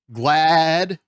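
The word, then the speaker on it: GLAAD: they partnered with uh glad and that's g-l-a-d so that's not me just mispronouncing glad it's glad there's two AAS uh uh I don't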